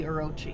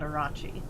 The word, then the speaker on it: Orochi: Mops is the one who first pointed out to me that Orochi should be Orochi and not Arachi.